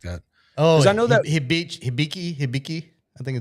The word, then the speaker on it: Hibiki: I think it's Hibiki or something like that. Hibichi. Yeah, I can't pronounce what shit. So, whatever. I'm going to look it up. Yeah, Hibiki. All right. Hibiki.